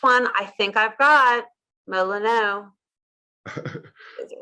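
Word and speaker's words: Molineux: The next one I think I've got, Molyneux. Is it wrong? Molyneux.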